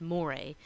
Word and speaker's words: mores: way a more a it looks like mores but it's pronounced more a those are norms with